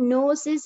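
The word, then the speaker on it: gnosis: Spelling படி ஜிஎன்ஓ என்றிருந்தாலும் ஜியை silent ஆக்கி உச்சரிப்பில் நோசிஸ் என்றே சொல்வார்கள்.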